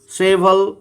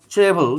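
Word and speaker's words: cheval: ক্যাভালরি শব্দটা এসছে চেভল থেকে, সেভল অর চেভল, যেটাই উচ্চারণ করতে পারো।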